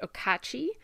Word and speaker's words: Okauchee: to make any sense but the word is pronounced okachi it's the name of the lake and around